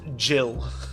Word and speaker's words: Gil: make for Gill's Tavern it's pronounced Jill that's not over here